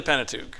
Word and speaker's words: Pentateuch: Yeah, How do you pronounce strictly it? the Pentateuch, right.